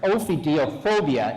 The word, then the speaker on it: ophidiophobia: I think this established what is I got to say it correctly, ophidiophobia.